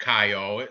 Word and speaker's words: Caio: But you know, that's how you spell ciao in Italian too, like ciao, like bye, ciao, right? Ciao, baby. That's exactly how you spell it too. But we'll call him Caio.